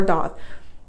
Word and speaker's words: daith: But I think if I didn't get the Daith or the Doth, pronounced Daith or Doth, it wouldn't have hurt that bad.